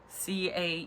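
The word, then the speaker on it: Caen: Like, c a e n is Ca.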